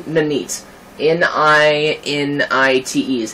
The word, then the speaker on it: Ninite: out why are you watching a video about nanite if you already know about nanite um so yeah the tool is called nanite um that's how i pronounce it it's n-i-n-i-t-e and let me just